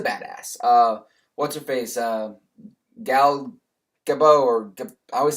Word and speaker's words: Gadot: Gal Gadot, or I always say Gabots because it's got a T on there, but I know that's not the proper pronunciation.